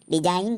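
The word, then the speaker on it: design: है जैसे डिजाइन तो डी ई एस आई जी एन इसको हम डिजाइन नहीं पढ़ेंगे क्योंकि रूल के अनुसार एन से पहले जी साइलेंट होता है तो इसको हम डिजाइन पढ़ेंगे जैसे रिजाइन आर ई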